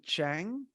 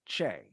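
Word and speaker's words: Chieng: and then Ronnie Ronnie Chang um or no sorry it's pronounced as Ronnie CH and he was in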